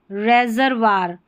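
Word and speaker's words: reservoir: ओ आई का उच्चारण निम्नानुसार कुछ शब्दों में वा भी होता है, जैसे मेमवार्स, रेपर्टवार, यह है रेपर्टवार। यहाँ पर देखें रेजरवार, ये बहुत कम स्पेलिंग्स है, ठीक है।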